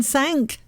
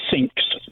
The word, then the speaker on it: Cinques: the cause sang is it's five i think in french isn't it the word but anyway so steve